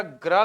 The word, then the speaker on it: ग्रह: अब जरा ग्रह का उच्चारण करना। कौन पहले आया? ग, फिर रा, फिर आ। ग आधा है, रा है, फिर आ है।